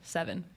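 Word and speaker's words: Sevin: Yeah, his name's Seven, but it's spelled with an I. S-E-V-Y-N? S-E-V-I-N. Seven.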